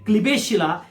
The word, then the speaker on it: Klebsiella: अमिनोग्लायकोसाइडर्स हा इश्चिरिया कोलाय म्हणजे E coli आणि पर्टिक्युलर क्लिबेशिला, ओके, ई कोलाय आणि क्लिबेशिला हे जे ग्राम निगेटिव्ह ऑर्गॅनिझम्स आहेत ह्यांच्यावरती ऍक्ट करतो अमिनोग्लायकोसाइडर्स.